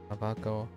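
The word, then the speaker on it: タバコ: Tabacco. Watch out for the first syllable. It is ah not to.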